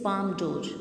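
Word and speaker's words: Palme d'Or: बच्चे speak this name very correctly. Try to understand its pronunciation. It is Palm d'Or.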